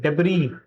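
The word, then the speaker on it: debris: Davis Davis the correct pronunciation of this is डेबरी।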